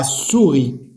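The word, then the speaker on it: souris: لا سوري، لا سوري هي كاينه اس هنا وكاينه اس هنا، هي وحده كتنطق وحده ما كتنطقش.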